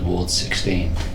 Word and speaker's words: Ward XVI: said we are called Ward 16, people going, really? We thought it was Ward XVI.